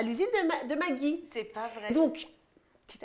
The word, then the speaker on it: Maggi: famille occidentale il fait mais non prononce pas magie mais magie genreant que je te c'est magie sauce magie voilà sauce Maggie très bien et ben